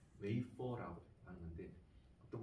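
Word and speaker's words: wafer: 과자 이렇게 해놨는데 잘라놓고 웨하스라고 과자 있잖아요. 그 일본 사람들이 발음을 웨하스라고 해요. 근데 스펠링은 W-A-F-E-R, 웨이퍼라고 해요.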